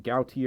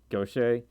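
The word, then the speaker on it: Gautier: in gouty or mississippi that's actually not how you pronounce my city's name it's actually go Shay but it's spelled asked out here and I don't know why I think it's I think it's French I'm not sure and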